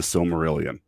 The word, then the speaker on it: Silmarillion: mean seriously if you have not read the silmarillion and yes that's how you pronounce it because i've been pronouncing it wrong